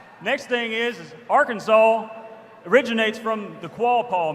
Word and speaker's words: Arkansas: Kansas vote first off is pronounced our can saw like you picked up the hammer and you saw all right next thing is Arkansas originates from the qual